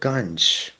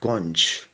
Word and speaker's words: Ganj: The word Ganj, or as the Bengalis pronounce it, Gonj, means a market, especially a grain market.